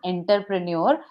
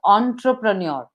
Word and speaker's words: entrepreneur: pronounced it as entrepreneur, but it is Huh. not entrepreneur, it is entrepreneur.